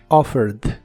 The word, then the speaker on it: offered: el pasado es offered es muy similar a la versión del presente solo que en el pasado se le agrega una e d Aunque solo se pronuncia la d offered offered y lo usas en ideas